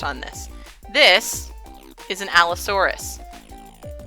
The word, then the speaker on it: Allosaurus: this this is an Allosaurus al Oh sorr s Allosaurus has four syllables in it or you can clap